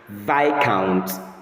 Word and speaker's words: Viscount: But the correct pronunciation is v count.